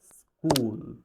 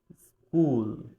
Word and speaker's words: school: হবে আমাদের বলতে হবে স্কুল স্কুল ক বলতে হবে কারণ এখানে খ সাউন্ডের আগে একটা এস লেটার রয়েছে সো এইরকমের আরো যত